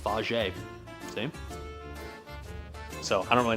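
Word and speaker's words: Fage: Um, in case you're wondering, by the way, they do tell you how to actually pronounce it on the uh container. And they even tell you on the container it's pronounced faj.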